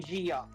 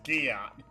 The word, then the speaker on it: Gia: Oh, you mean Giot? Yes, Gia. You pronounced it Giot before!